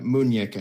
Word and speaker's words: muñeca: Yeah, muñeca is how it's pronounced.